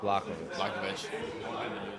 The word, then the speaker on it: Blachowicz: Blachowicz.